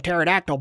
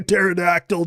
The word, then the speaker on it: pterodactyl: That B2 is He's higher than pterodactyl butthole. I go to the bathroom like a pterodactyl. Dude, the P is silent.